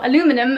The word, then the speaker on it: aluminium: good price for a cast aluminium or aluminum as the Americans say garden set gosh I'm